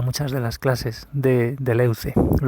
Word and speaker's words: Deleuze: de las clases de deleuze pronunciaremos así sin intentar pronunciar los francés de leuze no suelen pronunciar así de las cosas así aunque la aproximación es más o menos así bueno pues ahí empieza